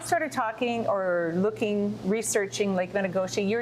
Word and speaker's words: Metigoshe: Lake Metigoshe, or as our good friends to the north, the Canadians call it, Metigoshe, which is probably a truer pronunciation of the word Métis.